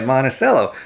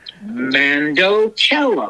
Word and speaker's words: mandocello: Just think of mandolin, mando, or Mandalorian, mando, and then cello, mandocello.